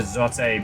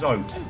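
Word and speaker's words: Zote: sober serious case for Zotate being the next character. Oh, okay. It's Zot. I just I still feel like he would pronounce his own name.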